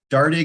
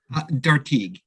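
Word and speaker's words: Dartigue: defender mish uh natasha dardig am i am i pronouncing that right mr zaremba dartieg darty okay thank you i apologize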